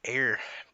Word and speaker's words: Eyre: right you did man ey re it's pronounced like AI R and I've really messed